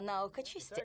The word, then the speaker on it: Наукочист: чистящего средства Расскажите нам наука чисте Эндрю произносится наука чист Я так и сказала